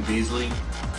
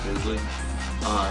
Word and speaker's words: Bisley: Simon Beasley, also Simon Bisley. I think that's how you pronounce it, Bisley.